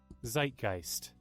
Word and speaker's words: Zeitgeist: Not zit. That's like let me see. Zeitgeist. That's literally what I said. I said zeitgeist. That's how you pronounce it.